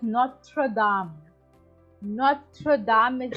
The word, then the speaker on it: Notre Dame: 50 meters correct now it is pronounced as Notre Dame pronunciation and the information which you are sharing with